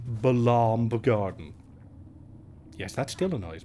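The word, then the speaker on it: Balamb: let's have a look at according to official pronunciation balaam garden yes that still annoys me it is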